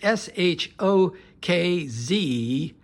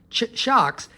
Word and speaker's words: SHOKZ: Now, SHOKZ, that's how you pronounce it, SHOKZ, SHOKZ has a number of different over-the-ear, it's called an open run.